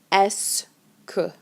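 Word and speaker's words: est-ce que: that phrase is okay these two words are pronounced together s k okay and this phrase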